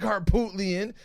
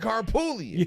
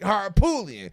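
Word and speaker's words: Harpootlian: sounds like Harput, but then literally everybody I've heard say his name, the T is silent, so it's weird. It is not Dick Harput. It is Dick Harpoolian.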